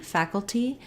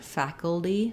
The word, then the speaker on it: faculty: say a true tea faculty or you can use a flap here faculty faculty just like in later this letter a says the a black cat vowel we also again have first syllable stress so fatigue tea think